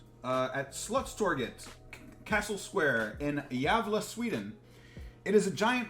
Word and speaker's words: Gävle: for me please that it's like a y sound the g javelin nordic languages uh would be very hard for me to learn diablo okay all right the yavla goat the apple goat